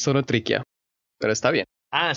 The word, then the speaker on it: Zonotrichia capensis: nadie más que el copetón solo tricia capensis pronuncia bien juan camilo casi casi vienes solo triqui a solo triqui a ok aunque si ustedes son